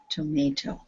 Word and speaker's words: tomato: the first one tomato how many syllables does this word have three syllables and where is the stress the second one yes good tomato okay i don't know